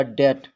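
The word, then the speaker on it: debt: डाउट डाउट माने संदेह यह लिखा है डेप्ट लेकिन पढ़ा जाएगा डेट डेट डेट माने ऋण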